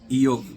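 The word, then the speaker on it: איוב: J-O-B, we call it Job, but in Hebrew we pronounce it Job, right? Eov.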